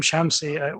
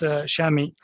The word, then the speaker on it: Shami: Thank you, Ahmed, and my apologies for pronouncing your name Shamsi. We know it's Shami.